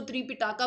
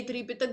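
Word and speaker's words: Tripitaka: Pronunciation होती है वो कई इसको त्रिपिटाका बोलेंगे, कई त्रिपितक बोलेंगे। इंग्लिश में ऐसा लिखा है इसलिए त्रिपिताका हो जाता है, त्रिपिताकाज, या फिर हिंदी में त्रिपितक, ठीक है।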